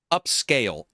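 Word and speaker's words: Upscayl: free one on GitHub called upscale UPS c a y l so it's spelled weird UPS c a y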